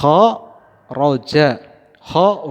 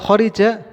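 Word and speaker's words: خَرَجَ: nya 6 kemungkinan Hi Ho Roja How rujak horiza Hai sudah tetapi yang paling tepat apa horo Jah kenapa enggak horiza ya tidak ada dalam kamus bahasa Arab horiza atau rujak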